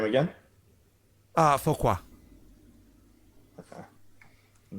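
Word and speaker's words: Foqua: his name again uh focus okay i'm not gonna be able to pronounce that how do you spell that uh f-o-q-u-a okay thank you you're welcome kind of like a faux pas right what's the name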